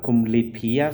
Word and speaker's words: kumlipia: The first one is kumlipia. So kumlipia. 5 syllables. Kumlipia.